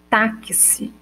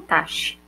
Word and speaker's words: táxi: Olha, quando eu pronuncio, eu não tenho som do X. Eu não falo taxi, né? Eu falo táxi. Então, eu tenho o som das letras T-A, K, S e I.